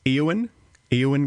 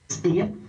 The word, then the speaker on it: Eoin: this is breakfast with is pronounced Ean Ian Cameron Ian oh just Ian have such a job